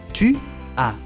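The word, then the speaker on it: tu as: Tu a tú tienes tu. A. El a s no se pronuncia la última s y se pronuncia como si fuera una letra a tu chu a.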